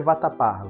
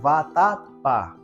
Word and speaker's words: vatapá: aí qu tônica de vatapá vatapá ca batô é o pá muito bem então a ca B tônica de vatapá é o pá Então ela é uma